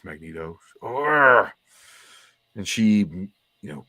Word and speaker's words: Magneto: where like you know storm screams from the Hammond heavens magnato he's like actually it's pronounced Magneto or and she you